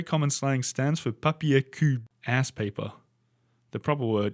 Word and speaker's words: cul: Beware that le cul, pronounced K-U, means the ass, as we just learned from PQ, papier cul.